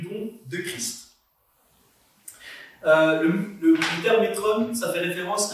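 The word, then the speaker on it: μέτρον: Ça s'écrit métron, ça se prononce métron, M-E-T-R-O-N, métron.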